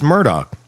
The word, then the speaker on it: Murdaugh: It's Murdoch. They were saying like Murdoch.